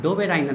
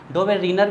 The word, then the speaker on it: Döbereiner: हाँ, डोवेराइनर वैसे उनका नाम, ट्रायड तो उनके प्रिंसिपल का नाम है कॉन्सेप्ट का। डोवेराइनर ट्रायड, ठीक है। डोवेरीनर भी पढ़ते हैं कई लोग, डोवेरीनर, डोवेराइनर, प्रोनाउंसिएशन के बेस पे।